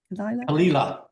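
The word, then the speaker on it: Caol Ila: However, I do seem to remember had Kalila, is that how you pronounce it? Kalila.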